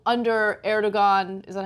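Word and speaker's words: Erdoğan: So, you know, I could see how under Erdogan, is that how you say his name? Erdogan.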